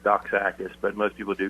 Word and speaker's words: Doxakis: people say but it's my last name is pronounced doc AIS but most people do